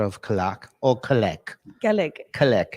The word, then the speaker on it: Kalak: KALAK is the right way. Written KALAK, but pronounced KALAK.